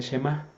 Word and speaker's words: Shemá: hoy le llaman este el Shemá. o shamá, algunos lo pronuncian así, eso es a lo que le llaman.